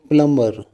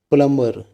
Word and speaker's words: plumber: Similarly, if you want to use the word plumber, then use word plumber instead of plumber.